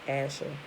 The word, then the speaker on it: Asher: so that would be asr would be alex shin resh and they pronounce it as asher the father of the